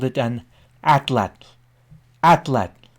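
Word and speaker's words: atlatl: Atlat. Now I pronounce it again for you, atlat. The name atlat derives from the Nahuatl language of central Mexico, where it was applied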